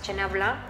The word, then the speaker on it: chenin blanc: un perfil muy aromático, chenin blanc, o como le decimos en México, chenin blanc, pero saben que me gusta que las pronuncien como deben de ser, que es chenin blanc.